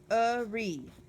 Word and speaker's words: awry: It's pronounced awry, and it's A-W-R-Y.